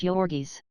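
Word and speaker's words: Jurgis: the mighty shoulders and the giant hands one pronounced jorgi's Ona was blue-eyed and fair while Georges had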